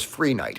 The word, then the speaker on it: Phreniche: The crystal I mentioned was Free Night. It's spelled Phreniche.